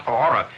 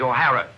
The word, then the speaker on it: O'Hara: do you remember saying my name is not horror it is o'hara here mr o'hara yes